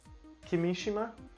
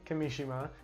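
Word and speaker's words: Kimishima: via Kotaku Japanese publication Nikkei I'm hope I'm pronouncing that right reports that Nintendo's current president president Tatsumi Kimi Seema yes excuse me I'm reading that apologize Tatsumi Kimi Shima who is 68 years old is stepping down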